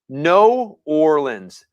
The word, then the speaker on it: New Orleans: Says if you say it right, you'd say No Orleans.